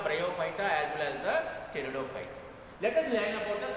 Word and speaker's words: Pteridophyta: Pteridophyta, the sound should come. Pteridophyta, okay. P is silent in this.